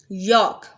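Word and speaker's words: yolk: यॉक, L pronounce नहीं होगा।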